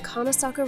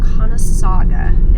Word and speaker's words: Conasauga: We're off on an exciting adventure to the Conasauga River, and the fun starts before we even get there.